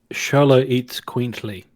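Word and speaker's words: Xoloitzcuintli: It's pronounced Xoloitzquintly. Oh, okay. Xoloitzquintly.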